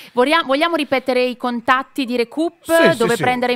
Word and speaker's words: Recup: stiamo pronunciando Recoup, all'italiana, sì.